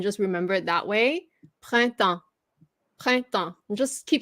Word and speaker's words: Printemps: Printemps. Printemps. Just keep remembering that. Printemps.